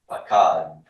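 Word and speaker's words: פָּקַד: No, I just assume that the final vowel is stressed because the final syllables by default stressed, right? So I don't need an accent mark here. Pakad.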